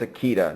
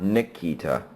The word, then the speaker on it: Akita: correctly so uh yeah it's akita not nikita so uh scooter okay dogs for 600.